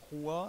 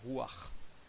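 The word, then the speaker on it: רוח: gens qui connaissent disent roi si on veut si on voulait vraiment prononcer on dirait Rouart on va prononcer comme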